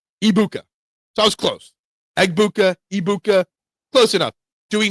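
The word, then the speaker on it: Egbuka: Uh, Abu, so the G's are silent. So it's Ibuka. So the G is silent. Um, Ibuka. Ibuka. So that was close. Eggbuka.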